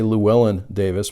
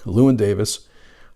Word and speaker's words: Llewyn Davis: It's Inside Llewyn Davis, and I always want to say Llewellyn Davis, but I pronounced it correctly, Llewyn Davis.